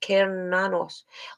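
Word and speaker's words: Cernunnos: About Kernanos, pronounced Kernanos, also known as Hern, is a Celtic stag god who represents connection to the earth.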